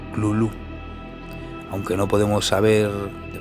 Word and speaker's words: Cthulhu: más tarde averigüé que la manera más correcta de pronunciarlo según Lovecraft sería gruñir, ladrar o toser las sílabas Cthulhu, aunque no podemos saber de verdad cómo se pronuncia.